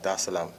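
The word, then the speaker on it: Dar es Salaam: the seventh to come straight to um tanzania da salam did i pronounce that right yes okay cool that islam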